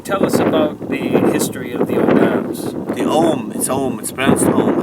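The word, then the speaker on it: Ogham: us about the history home actually okay because the gh's g is silent if you look at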